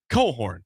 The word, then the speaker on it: Cochran: So, and now it is spelled Cochran. It looks like Cochran, but it's Cohorn. Kerry Cohorn. So there is no chance of mispronunciation by Kevin Kugler.